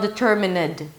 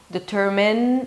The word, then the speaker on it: determined: It's not determined. Okay, there is no vowel there.